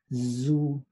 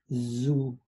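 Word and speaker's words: zu: we pronounce it as zoo zoo right if it were written with an s we put we pronounce it su su but since this is a z we pronounce this as zoo one more time zoo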